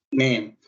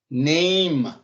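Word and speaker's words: name: அதே நீங்க எல்லாம் சொன்னா நேம் உண்டு, பட் அதன்படி பார்த்தா நெய்ம், நெய்ம் அதான் இந்த ரைட்டான ப்ரொனன்சியேஷன்.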